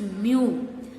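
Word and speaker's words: μ: This Poisson's ratio is denoted by the letter is mu. How to pronounce?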